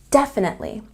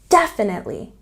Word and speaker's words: definitely: It's not like sure, it's definitely. And pronunciation is really important for this word because the stress is on the first syllable. Definitely.